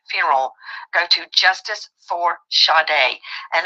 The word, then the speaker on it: Sade: Go to Justice for Sade, and that is spelled S-A-D-E. Like you would say Sade, like sage. It's pronounced Sade.